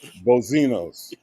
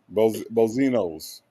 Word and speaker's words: Boziana: Okay, Bozinos. Okay, Bozinos. All right. Okay. Even though phonetically it sounds like Bozinos, it ends with an A.